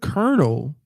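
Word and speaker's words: colonel: The word kernel doesn't even have any letters to indicate at all that sound. It's an O, an L, and an O, as in solo. Colon. What else? What else is OLO? Dolo. polo. But somehow that an O, an L, and an O is supposed to be pronounced like an E and an R.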